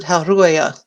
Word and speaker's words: Halrua: According to Ed Greenwood, when you see multiple vowels, everyone is pronounced. And so I've always pronounced it Halruaya because there's an A and there's another A. So you can't say Halru because that just sounds stupid. So I make the first one long and the second one short, but that's me.